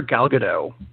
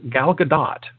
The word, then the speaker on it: Gal Gadot: playing Wonder Woman because for the past two years now I've been calling her gal gadot which is the way it looks and sounds like a villain in a Godzilla movie and we've been saying it wrong the whole time it really is gal gadot o-ca french yeah she can she's not French Jesus she's Israeli so the T is not silent and that's and that's